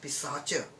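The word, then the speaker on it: Paishacha: and sacha this can it is actually pronounced in hindi as pisacha research okay moving on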